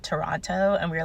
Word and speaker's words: Toronto: we're like, "No, like you don't pronounce the T at the end." And then he was like, "Oh, Toronto, like Sorrano, the Italian bread."